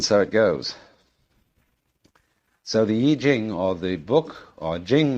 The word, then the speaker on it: I Ching: the Book of Changes, called the Yi Jing, not the Wai Ching.